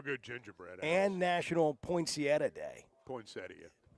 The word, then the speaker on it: poinsettia: call them poinsettias. Yeah. I always call them poinsettias. But I know the correct pronunciation's poinsettia.